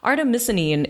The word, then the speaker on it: artemisinin: Artemis and I I can get this right artemisinin artemisinin yes artemisinin it's a chemical from derived from wormwood it's